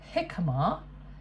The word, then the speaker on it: jicama: 1/4 of a jicama, which Angela tells us is actually pronounced jicama, is a Mexican root vegetable with a brown